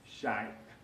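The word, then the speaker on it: شيء: they found out that a very common Arabic word is Sha'b, with a guttural stop at the end.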